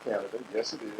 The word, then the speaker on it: Canada: it is it pronounced Canada yes it is it's just like the country is always people so